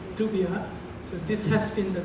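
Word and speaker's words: Dubya: But here, these two names looking very different, but they are actually the same person, because Texas people pronounce W sounding like Dubia, so this has been the nickname of this son Bush.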